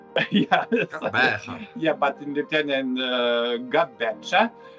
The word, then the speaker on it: Gqeberha: I mean, name is changed, and I'm not going to pronounce because in Lithuanian we're saying Gqeberha, but Gqeberha. Yeah, Gqeberha.